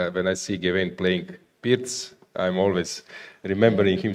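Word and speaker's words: Pirc: I I was curious do people name that opening or pronounce that opening here in in UK in that manner because Vasia Pz Pz was well known Slovenian Grandmaster Yugoslav Grandmaster so not perk but PZ so when I see Gain playing PZ.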